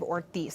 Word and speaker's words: Ortiz: It's pronounced Representative Ortiz, Senator Kavanaugh.